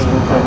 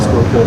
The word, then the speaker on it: Schuylkill: I learned how to pronounce the Schuylkill too in that movie. See the water right down there. That's the Schuylkill River.